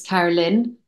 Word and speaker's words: Carolyn: door neighbor who's 86, Carolyn, rhymes with sin and gin, was her introduction to me.